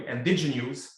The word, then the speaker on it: Indigenews: In October 2022, she became the managing editor of Indigenews, you have to say it properly, Indigenews, an online independent media outlet amplifying the stories of Indigenous communities in the Okanagan and across Vancouver Island.